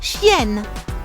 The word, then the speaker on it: chienne: We say une chienne. Notice how the article changes too? Une is the article for female, and chienne is female dog. Une chienne. C-H-I-E-N-N-E.